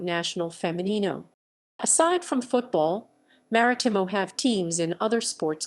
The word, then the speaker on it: Marítimo: CS Marítimo Club Sport Marítimo MH M, commonly known as Marítimo Portuguese pronunciation, Marítimo locally Marítimo, is a Portuguese sports club founded in Funchal, Madeira, in 1910.